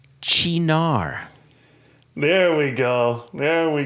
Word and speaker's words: Cynar: Cynar is pronounced Chinar, There we go.